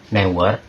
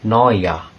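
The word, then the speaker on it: Neuer: kan tulisannya kayak newer newer itu sebenarnya bukan dibacanya bukan kayak Manuel newer tapi Manuel Manuel Noya karena ada e eun-nya dibaca seperti o dan eers dibaca seperti a Manuel Noya banyak yang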